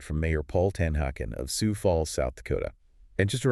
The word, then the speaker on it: Sioux Falls: Today, we're digging into a fascinating document from Mayor Paul Tanhacken of Sou Falls, South Dakota. And just a reminder, it's pronounced Sou Falls, right? Sou Falls.